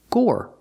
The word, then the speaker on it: gore: have this word Gore the e at the end is silent so pronunciation Gore make the or sound like floor and more Gore Gore is the